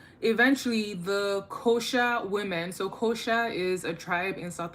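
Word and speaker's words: Xhosa: Eventually, the Kosha women, so Kosha is a tribe in South Africa and is spelled X H O S A.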